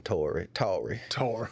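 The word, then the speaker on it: Touré: Toure, like Toure. Yeah, well, in the South they would call him Tory. That's Tory.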